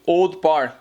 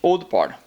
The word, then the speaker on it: Old Parr: Só fala simplesmente Old Parr. E muita gente nem sequer pronuncia os R's. São dois aqui no caso. Falam simplesmente Old Parr.